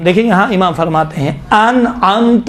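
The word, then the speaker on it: أنعمت: صراط الذین انعمت علیہم، دیکھیں یہاں امام فرماتے ہیں انعمت علیہم، ان میں حمزے ہیں، انعمت میں عین ہے. عین اور حمزے کا تلفظ میں باید فرق ہونا چاہیے.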